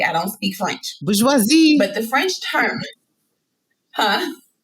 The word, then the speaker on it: bourgeoisie: french word now excuse me if i don't pronounce it correctly i don't speak french bourgeoisie but the french term huh bourgeoisie so the french yes there you go thank